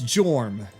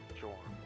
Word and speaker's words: Jorm: ah I like that name my name is jorm jorm how do you spell that j o RM oh okay very simple